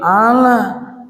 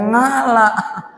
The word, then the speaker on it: ala: Allahumma sholli ala, aja bacanya ngala.